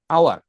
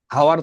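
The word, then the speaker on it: hour: তাহলে হর্সের ক্ষেত্রে তো হচ্ছে না, এখানে আওয়ার। আওয়ার কেমন, ওই যে আ এর মতো উচ্চারণ হবে এখানে, হাওয়ার তো বলছি না, আওয়ার।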